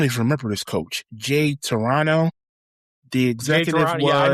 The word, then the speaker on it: Triano: How do you say his name? Toronto? Jay Triano. Triano. Yeah, okay. That's how you say his name. Jay I thought Triano. Murray said Jay Toronto.